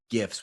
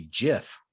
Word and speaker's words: GIF: GIFs with a hard G.